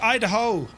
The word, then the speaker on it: Idaho: It's pronounced Idaho.